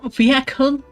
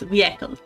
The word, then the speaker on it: vehicle: Okay, first of all, vehicle is is how I I learned to say it's vehicle and there is not an H sound.